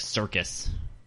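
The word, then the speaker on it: Syrcus: Because I thought it was like circus.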